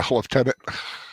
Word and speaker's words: lieutenant: talking about Colonel you're not talking about the pronunciation of leftenant oh yeah leftenant lieutenant I heard that from a game every day